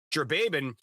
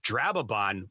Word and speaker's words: Drababon: from day one, and it goes through it as Drababan. And then when I started the podcast, Mark came on as like, it's actually pronounced Drababon when I did the character's name.